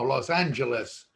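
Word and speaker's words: Los Ángeles: cefardi de los angeles well no los angeles we pronounce the g in our in our spanish and it originally was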